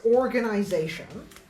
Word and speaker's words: organization: Uh but in in the word organization, the primary stress is on the last syllable. The secondary stress is on the first syllable. The tertiary stress is on this syllable is on the third syllable.